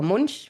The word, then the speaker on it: Munch: they're covered in paintings by Edward Monk, who or Munchch as you might want to pronounce him, who many people will know as the painter of the scream.